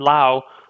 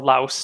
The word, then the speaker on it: Laos: I have to like take 2 weeks off to travel around Thailand and Laos. Or Laos, depending on your pronunciation, with my wife, and